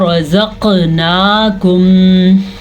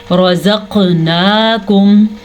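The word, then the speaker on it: رَزَقْنَاكُمْ: قاف کے اوپر قلقلہ ہو رہا ہے کیونکہ قاف قطب جد حروف قلقلہ میں شامل ہے. قاف طا با جیم دال یہ 5 وہ حروف ہیں جب ان پہ جزم آ جائے تو جھٹکا پیدا ہوتا ہے.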